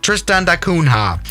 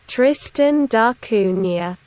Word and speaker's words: Tristan da Cunha: this island especially tristan uh tris tristan da tristan da cunha how do you pronounce that tristan darcunia okay tristana you know i wasn't even that wrong yeah tristan da cunha island indeed oh no no no yeah this